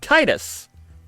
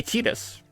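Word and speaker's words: Tidus: main character from Final Fantasy 10 which is Titus uh even though in game and in Kingdom Hearts they say tetus tetus is the official pronunciation of that character's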